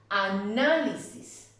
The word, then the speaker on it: análisis: Hábitat, análisis, recítaselo, espíritu.